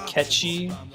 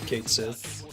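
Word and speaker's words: Cait Sith: I'm theum yeah it's supposed to be catchy but you'll sound like an ass if you say that right so I think you can say Kate Sith and no one's ever going to judge you a lot of Gaelic words are like that the days before voice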